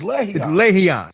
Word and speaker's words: Lerryan: It's Lerryan, right? Lerryan.